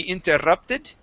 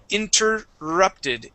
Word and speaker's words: interrupted: interrupt Ed okay so in English there are times when we have two RS that are right together okay uh but that does not create a Double R sound we only have one R sound okay so even when